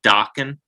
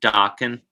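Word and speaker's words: Dokken: it i i know you're supposed to say do you say dawkin like rockin dawkin yes rhymes with rocket i say more dawkin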